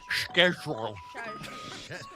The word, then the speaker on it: schedule: Your word Kyle is schedule or because you're a stickler for these things it could be pronounced schedule.